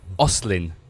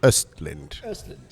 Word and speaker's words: Aston: get your surname wrong you're gonna make me say on your oslin it is it's the English version of my name it's actually Aston yeah I think that's